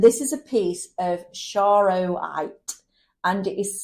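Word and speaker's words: charoite: come across and this is a piece of shro white and it is spelled c h a r o i t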